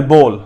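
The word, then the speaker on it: bowl: بی او ایل, بول, وہ باؤل نہیں ہوتا.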